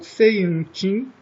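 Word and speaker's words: Seiunchin: aos seus currículos, né, o Seiin-Chin, que em chinês seria pronunciado Ji-Jan.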